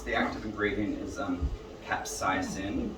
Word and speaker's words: capsaicin: active ingredient is um capsaicin capsaicin sorry capsaicin's the pronunciation and um it's a